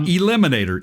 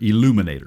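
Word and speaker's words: Eluminator: right okay and um not Eliminator Illuminator right get it illuminate right like electric right illumination so um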